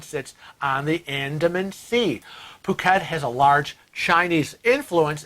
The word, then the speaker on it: Phuket: The H is silent. This is big on my... Yeah, Phuket, Thailand, and we have never been.